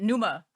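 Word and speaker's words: Pneuma: it's it was um I always pronounce the name wrong how do you say it Numa Tool The Tool song named Numa P NE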